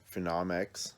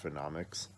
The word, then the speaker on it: PhenomX: um up next is phenomx i think is how you pronounce it it looks like phenom x but i think the book finally tells you in this issue it's pronounced phenomics um phenomx i don't